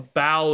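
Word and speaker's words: bough: A bow is a part of a tree. A B-O-U-G-H. Yogg is lethal. I mean, I guess theoretically, for all I know, there could be some weird, you know, different pronunciation for Grey Bow specifically, but generally you would say a bow.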